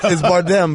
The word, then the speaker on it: Bardem: I don't know how to pronounce it either. It's Bardem, but you made him into Jean-Claude Van Damme. Yeah, it sounded like Bardem.